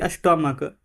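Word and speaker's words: stomach: बताया गया है सी एच का उच्चारण क होता है तब मात्रा में ना एस जुड़ता है जैसे कि स्टमक स्टमक है तो यहां पर एस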